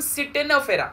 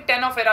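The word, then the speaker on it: Ctenophora: तो फाइलम सिटेनोफेरा, सिटेनोफेरा, कोई कोई इसे सी साइलेंट बोल के टेनोफेरा भी पढ़ते हैं, तो तुम्हारे ऊपर है, जो पढ़ना है पढ़ो, स्पेलिंग करेक्ट लिखना एग्जाम में बस।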